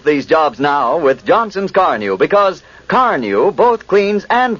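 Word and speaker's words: Carnu: new when you use Carnew." You'll be saying it yourself first time you use Johnson's car new on your car. Carneu is spelled C A R N U.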